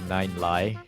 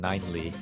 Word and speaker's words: Ninely: I always want to pronounce it Nine-Lie, but it's pronounced Ninely.